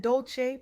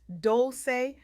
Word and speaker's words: Dolce: I'm Dolce, pronounced doulce like sweet softness whispered in French.